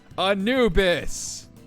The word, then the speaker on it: Anubis: Anubis. 3 syllables.